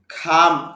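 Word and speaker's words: come: খাম আশা, সি এটা হলো এক্সপিরেশন, মুখ থেকে অতিরিক্ত বাতাস বের হবে।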